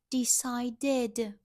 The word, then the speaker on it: decided: Decide plus ed. Decided. Sounds like id.